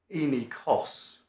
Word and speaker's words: Enikos: Toomey added the Enikos, that's the right way of pronouncing it, and said, here's a second example of recovery for loss of earnings.